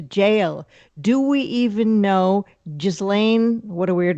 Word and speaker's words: Ghislaine: Do we even know Ghislaine, what a weird name, Maxwell was ever arrested, was ever in jail?